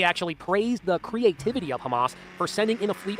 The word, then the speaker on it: Hamas: he uh he was talking about Hamas the city but he kept pronouncing it humus yeah Trump is under